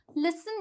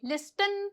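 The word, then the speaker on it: listen: जैसे कि लिसन बोलेंगे, लिस्टन तो नहीं बोलते ना, लिसन।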